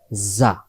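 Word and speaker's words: ز: হয় এরপরে আমরা পড়ছি যা আজকে যেটা পড়লাম আকরাসটা মুখস্ত করে নিবেন যা অক্ষর সামনের নিচের দাঁতের আগা থেকে শীষ দিয়ে পড়তে হয় শীষ দিয়ে পড়তে হয়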